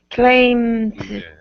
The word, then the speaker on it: claimed: You don't want to have a voiceless T sound, because obviously that's going to sound like a T.